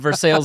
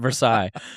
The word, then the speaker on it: Versailles: You went Versailles, Indiana, and I went Versailles.